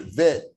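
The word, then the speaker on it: ב: But the Bet without the dot is considered vet, like V in voice, okay? So when it has the dot, you pronounce it as B in boy. Without the Dagesh or without the dot, it's V as in voice.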